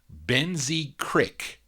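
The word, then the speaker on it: Boenzee Cryque: en dash z ee space c RI CK Ben Z Creek that's how you pronounce it but anyway they have this single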